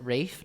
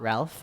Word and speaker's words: Ralph: Yes, you pronounce it Rafe, not Ralph.